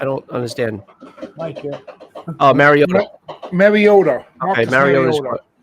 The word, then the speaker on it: Mariota: Oh, Mariota.